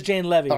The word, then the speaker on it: Jane Levy: or at least saying it correctly it is Jane Levy so ignore what I was saying but uh